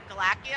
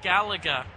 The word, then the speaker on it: Galaga: Galactia? I was like, what is it, Galactia? What do you call it, Oh, there's a Galaga? lot. What was it, Galactia? Galaga.